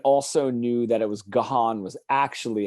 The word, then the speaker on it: Gaughan: So it's it's Gaelic, I think. So it's Gahan is actually how you're supposed to pronounce it.